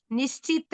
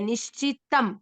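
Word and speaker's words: निश्चितम्: और शिष्य यहाँ पे यत् श्रेयस्यान निश्चित नहीं है, निश्चितम। निश्चितम निश्चितम।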